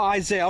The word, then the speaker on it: Isaiah: Isaiah, that's how you say it's my fault. Oh, Isaiah.